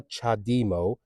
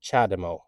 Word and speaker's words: CHAdeMO: a lot of people calling it chademo honestly I'm just about to lose lose it it's not a chademo it's a chademo okay say it with me chademo that's what that charger